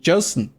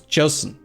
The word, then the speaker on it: Joseon: says he's korean and he says it's pronounced like a j because the name of it is actually this is the korean kim dynasty joseon so it's joseon not chelsea whatever anyway